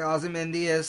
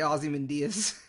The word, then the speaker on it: Ozymandias: Manhattan puppets and most likely Ozymandias somebody somebody initially thought it could be Black